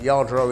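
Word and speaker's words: Lladró: well i've been collecting yardro my late wife was spanish and yard row is spelt with a double whale but the spanish pronounce it with a y everything's made by hand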